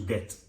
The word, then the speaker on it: debt: But in cheaty on contract, it defined account stated as admission to debt. Depth DBT. So B is actually silent.